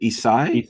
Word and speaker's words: Esai: Like this is, with Alec as well, and with I never know how to pronounce his name. Is it Esai? Esai, yeah, Esai Morales, yeah.